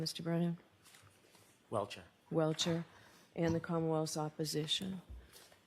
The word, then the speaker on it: Welcher: How do you pronounce his name, Mr. Brennan? Welcher.